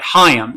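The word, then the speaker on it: Chaim: I am not Jazz but hayam is spelled c-h-i-m hi I'm and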